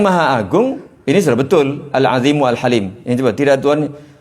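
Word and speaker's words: العظيم: Di bawahnya Rabb Arsy yang Maha Agung, tapi di sini baca Al-Azimi. Harusnya dibaca apa? Al-Azimu. Karena yang agung Allahnya, Rabbnya, bukan Arsy-nya. Jadi ya ini nggak tahu kita mau yang betulkannya yang mana ini.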